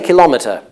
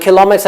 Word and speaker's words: kilometer: one you mean yes I say kilometer but and kilometer is the usual pronunciation indicated by dictionaries kilometer but some people say kilometer that's probably less common Americans would say kilometer kilometer okay but they're both used oh yes yes you'd